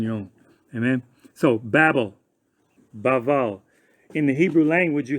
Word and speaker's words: Babel: Okay, so they call this word Babel, but Hebrew is pronounced Baval, and Baval, the root word for Babel is Balal.